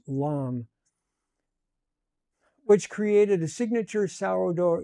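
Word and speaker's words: lame: I scored the top with a lam, pronounced lam, which created a signature sourdough ear.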